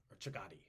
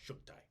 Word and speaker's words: Chagatai: Chagati is how we usually pronounce it. Chagatai. But I believe it's pronounced Shugtai.